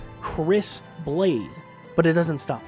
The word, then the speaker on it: Kris: That's the real name, that's how you spell it and say it, Kris blade.